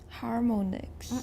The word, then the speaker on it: harmonics: But how do we usually pronounce an O in isolation? It's got no final silent E, and it's not part of a digraph. It's not like OA, for example. If it's just an O, a plain old O, and it's got a consonant on each side, how do we usually pronounce that in American English? We pronounce it like ah.